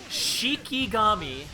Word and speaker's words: Shikigami: It's actually Shiki. Yeah, Shikami. I said it right the first time. Then you I thought you said Shinigami. No, Shiki Gami dance. Okay, I've seen enough enough anime to know Shikigami.